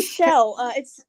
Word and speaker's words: Chell: Yes, it's actually Shell. Excuse me. She's named after the character from Portal, but we found a Shell gas station, so it's spelled like. Oh, okay, I got Shell, you. But we say it like Shell.